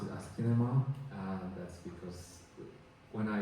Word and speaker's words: asciinema: So, I was saying that uh the name is the Askin name is problematic, but I like it. So, uh just I I pronounce it Askin.